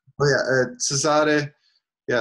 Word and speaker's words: Cesare: Cesare. Yeah, it's pronounced Cesare. I think originally it's from Cesare, but it's also Caesar, if you want to go with the English pronunciation.